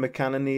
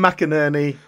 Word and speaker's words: McInerney: Tim McEnany is, McEnany. Whoa. How are we pronouncing his surname? Tim McInerney. McInerney, surely.